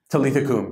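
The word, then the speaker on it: Talitha koum: I don't know if I'm pronouncing this correctly. Talitha Kum? Talitha Kum, yeah.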